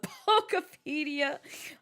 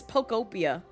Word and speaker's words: Pokopia: I've always said it, Pokepedia is Pokopia. It's Pokopia. But I jokingly say Pokepedia, and everyone's just like, that's not how that's pronounced.